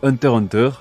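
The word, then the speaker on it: Hunter × Hunter: des mots deux fois Hunter deviendra ainsi Hunter Hunter le X étant la queue pour la forme il ne se prononce pas Yoshihiro Togashi est marié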